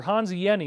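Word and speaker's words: Hans Jenny: Hanzi Yeni, that's how you pronounce his name.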